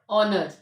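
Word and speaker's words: honour: भी नहीं पढ़ते तो यहां पेज क्या है साइलेंट है ऑनेस्ट आवर ऑनर जब भी वर्ड्स आर एच से स्टार्ट हो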